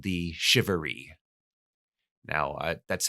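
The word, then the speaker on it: charivari: find in colonial America is something called the shivery now that's how you pronounce it I'm told shivery if you see it spelled if you're a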